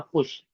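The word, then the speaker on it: خوش: In this word, the letter wow is silent.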